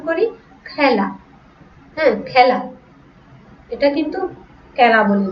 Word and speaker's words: খেলা: খেলা, এটা কিন্তু বিবৃত উচ্চারণ। খেলাটা আমরা উচ্চারণ করি খেলা।